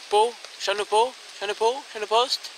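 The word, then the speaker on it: Chaponost: Chanopost. Moi je prononce toutes les lettres.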